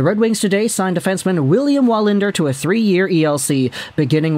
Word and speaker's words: Wallinder: But I do believe that in Sweden, they pronounce the W as two Vs in a row. So instead of saying William Wallinder, I'm pretty sure it's William Wallinder.